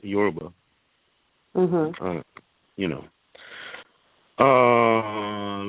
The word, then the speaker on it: Yoruba: little bit about the Yoruba tradition the Yerba tradition bahaha yeah the use pronounced but is so fast you just don't cuz it it is yorba hold on you know